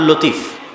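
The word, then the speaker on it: لطيف: আমাদের মধ্যে অনেকের নাম আছে আব্দুল লতিফ। আছে না নাই? আছে। এই লতিফের সঠিক উচ্চারণ হচ্ছে লাতিফ।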